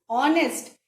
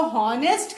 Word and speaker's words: honest: भी आप ऑनेस्ट लिखोगे, ऑनेस्ट की जब भी स्पेलिंग में एच आता है, but when we pronounce the word इसमें एच साइलेंट होता है. तो HONEST, this is pronounce as ऑनेस्ट. इसको हॉनेस्ट कभी नहीं बोलना बच्चों, याद रहेगा सबको.